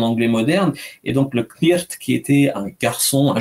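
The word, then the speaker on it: cniht: ça s'écrit C-N-I-H-T, en le prononçant en anglais de l'époque, ça donnerait Knirt, et si on a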